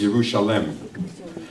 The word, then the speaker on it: Yerushalayim: Another way to pronounce Yerushalayim is Yerushalem.